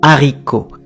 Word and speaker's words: haricot: When you have words like haricot, which means bean, okay, like green bean, red bean, haricot, it starts with an H that you do not pronounce.